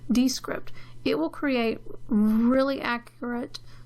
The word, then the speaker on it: Descript: the episode show notes it's called D it's spelled des CR IPT comm D script it will create really